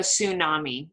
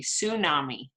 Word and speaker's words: tsunami: first we have a tsunami repeat tsunami here we see tsunami so we do not pronounce the t the t is silent we just say tsunami um so a tsunami